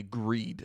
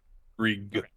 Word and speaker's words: Grieg: if I remember correctly, Greed. I think is how it's pronounced. Greed. Grieg. Grieg, yeah. right? Grieg. I have it as I believe G-R-E G-R-I-E-D. No, it's I believe it's short for, G-R-I-E-G, right?